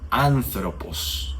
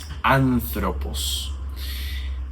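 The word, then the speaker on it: ἄνθρωπος: Y cuando el espíritu es suave, no vamos a modificar en nada el sonido de la primera vocal.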